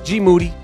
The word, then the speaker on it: GMoody: First of all, GMoody, last name rhymes with duty, hasn't been on the podcast lately.